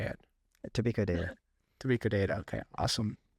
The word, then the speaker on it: Tobiko: Tobiko data.